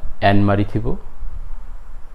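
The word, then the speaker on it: Anne-Marie Thibaud: সৈয়দ অলিউল্লাহ তার এক বিদেশি সহকর্মী, ফরাসি একজন নারী যার নাম আন মারি থিবো, কে উচ্চারণ করেন অ্যান মারি থিবো।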